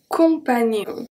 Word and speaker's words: compagnon: The second one, un compagnon, un compagnon, nion, un compagnon, nion.